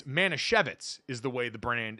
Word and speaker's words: Manischewitz: It's Manischewitz is the way the brand is pronounced from this and our story about Jake Retzlaff.